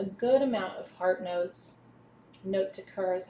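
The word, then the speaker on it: note de cœur: Note de coeur is how you say it in French.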